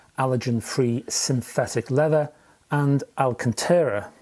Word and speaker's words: Alcantara: free synthetic leather and alcantara hope you pronounce it that way alcantara it's quite soft around